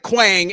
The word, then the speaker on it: Quang: Quang Lee, they pronounce it Quang, and it rhymes with bang when you say it that way, so he apparently gets a pass.